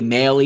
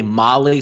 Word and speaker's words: Mahle: Same thing with Tyler Mahle, you see, but it's really Maley, and some people say in Cincinnati, Molly.